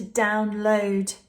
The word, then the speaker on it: download: downloads I need to download those photos onto my USB stick downloads this is a downloads if it's a noun we put the stress on the first syllable download how many downloads